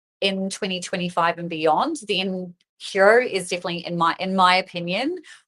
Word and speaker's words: Hiro: know what Hero is, but Hero is spelled HIRO. I'm going to pop that up on the screen for you guys to see. So Hero, that's how it's spelled, not E, it's with an I.